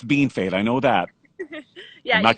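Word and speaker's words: Bienfait: are isn't it i'm actually at home in bean fate i live in a small town right side right outside of estevan i know how to pronounce bean fade i know that yeah you got that right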